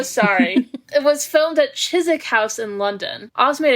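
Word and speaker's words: Chiswick: Oh, it also rhymes with the filming location. Oh, it does. Oh, Chisik and Kzik.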